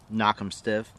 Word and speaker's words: Knock 'em Stiff: First one on our list is Knock 'em Stiff. Pronounced just as it's spelled, Knock 'em Stiff.